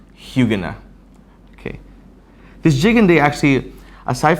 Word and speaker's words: Huguenin: It's spelled Huguenin, but it's pronounced Huguenot.